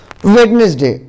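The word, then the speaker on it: Wednesday: वेडनेसडे, अब वेडनेसडे में जो है साइलेंट क्या है, डी, डी को नहीं पढ़ेंगे, वेडनेसडे नहीं पढ़ेंगे, वेडनेसडे पढ़ेंगे, है ना, यानी बुधवार का दिन, वार।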